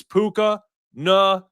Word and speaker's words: Puka Nacua: It's Puka Nacua.